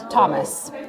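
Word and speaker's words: TOMIS: mouthful so there in Thomas Thomas okay that's why it's spelled like without a h right yep and an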